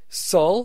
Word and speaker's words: Saul: Greek doesn't have the sh sound, so Greeks wouldn't have been able to pronounce his birth name. That's why in the Greek New Testament, he's referred to as both Saul, Saulus, and Paul, Paulus.